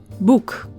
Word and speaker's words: boek: do not have aspiration like in English sounds like P C ta da and the like are absent from Dutch like the little PS